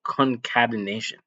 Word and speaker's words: concatenation: It's called you pronounce it concatenation.